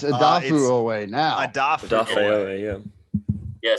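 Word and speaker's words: Odafe Oweh: I don't know how to pronounce it. Is it Jason Owe? Owe, yeah. It's Adafu Owe now.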